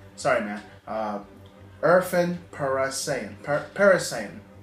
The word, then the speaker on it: Parasayan: Irfan Parasayan. Parasayan. It's like saying Saiyan, but Saiyan.